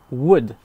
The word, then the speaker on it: would: pronce pas le l wood tout simplement d'ailleurs je l'avais pas précisé he pour pour Chud aussi c'est pareil on prononce pas le l wood shud ça se